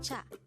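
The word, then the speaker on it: 차: is cha again it's cha this is pronounced as one syllable word pronounce it with me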